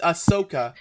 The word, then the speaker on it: Ahsoka: do you keep saying asana you keep it's ahsoka i don't i never said asuna i said